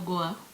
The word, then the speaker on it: Gua: how do you pronounce it? Gua or Goa? Gua, whichever way.